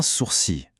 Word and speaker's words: sourcil: Mais attention, la prononciation est un peu piégeuse. Un sourcil. Le L à la fin est complètement mué. On l'entend pas du tout.